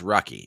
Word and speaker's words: Rocky: It's pronounced Rocky. Okay. Rocky de la Fuente.